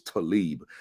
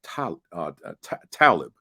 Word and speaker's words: Talib: the at the time I thought it was Talib but I had learned over time that it's pronounced Talib t-a-l-i-b and it means as you just said